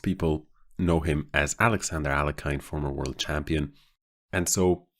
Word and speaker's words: Alekhine: this game it was alekhine or well if you want to go with the proper russian pronunciation i think it's something closer to alien but most people know him as alexander alakine former world champion and